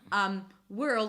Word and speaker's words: world: /World/ make sure that you pronounce the L - world.